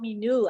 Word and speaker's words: Minu: Oh, Minu. I've been saying Mino all this time.